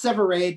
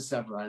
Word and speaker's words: Severade: It's Severade, but that's Okay, often, there it is. it's okay. I'm used to Severide. A lot of people say it that way, so it's not a problem.